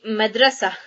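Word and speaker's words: مدرسة: So when we stop on a ta marbuta, it is pronounced as the letter ha here. So we're going to write down all the letters plus the short vowels of it. And it would be madrasa.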